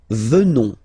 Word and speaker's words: venons: Nous venons, okay, O-N-S, classical ending for nous, okay, final S not pronounced, so O-N, on, venons, venons, nous venons,